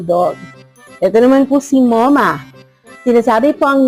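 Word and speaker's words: Momma: Ito naman po si Moma. Sinasabi po ang name niya as Moma. Parang M-O-M-A. Bakit po ba Moma? Tapos ang spelling ay M-O-M-M-A. Moma po kasi is named after my beautiful mother who is now in heaven.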